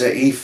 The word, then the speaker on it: Aoife: very nice lady Rena, Aoife, which has a funny spelling, I think it's Aoife, but it's Aoife as far as it's pronounced.